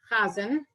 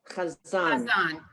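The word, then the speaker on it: חזן: This was chazan, which was cantor, M. Right. And In the Hebrew, the right way to say it would be chazan.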